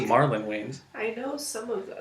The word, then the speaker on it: Marlon Wayans: How do you say his name? Mary. Oh. Yeah, okay. I couldn't tell if you were saying No, sorry. Marlon Wayans. I was reading the L like an I.